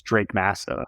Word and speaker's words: Drake Massa: right I lead our Acquisitions my name is Drake Massa I guess my title per se is director